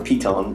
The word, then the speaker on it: Python: to that later uh python or Pon as it is pronounced in Dutch was the first thr